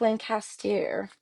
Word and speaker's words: Lancaster: Google how to pronounce Lancaster in Pennsylvania because we all pronounce it wrong. It's more like Lancaster.